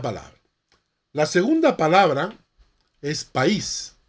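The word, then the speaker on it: παῖς: la segunda palabra es país así como país no la palabra país nuevo país que significa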